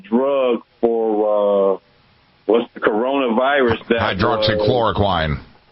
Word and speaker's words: hydroxychloroquine: Hydroxychloroquine. Yes, that's how you pronounce it.